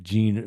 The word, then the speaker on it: Jean: I'm sorry he knows pronounce gene is it like gene like yeah sorry so the you